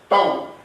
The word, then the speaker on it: Tau: Torque symbol will be tau. Right like this. This is the symbol of torque. Tau. How it will be pronounced?